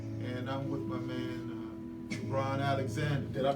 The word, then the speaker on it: Kebran: And I'm with my man, Kebran Alexander. Did I pronounce it right? This is Dr. Kebran.